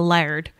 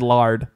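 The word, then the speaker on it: laird: to colum yes because colum is the layard the lay layard yeah that's what I said you said lard no I didn't yeah you did no l a i l a i r d I'm not I'm not protesting the spelling I'm just saying that you said lad not lead well I tried to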